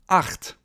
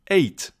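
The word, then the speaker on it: acht: And then we have the letter combination CH, which is pronounced ch in German. So it basically comes from your throat. 8, 8, 8.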